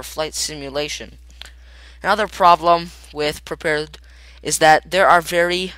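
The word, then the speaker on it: Prepar3D: people are working on it there you go pronounce prepared it's based on Microsoft ESP all that and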